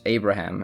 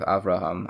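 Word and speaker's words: אברהם: For instance, Abraham instead of Avraham, Isaac instead of Yitzchak, Esau instead of Esav, Moses instead of Moshe, etc.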